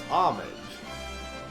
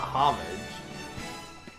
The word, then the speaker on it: homage: bolts homage there's no you don't pronounce the h right it's homage not homage nutty acres very